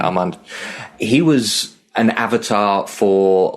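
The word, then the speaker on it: Armond: Armand let's get the pronunciation right. Armand he was an avatar for like one of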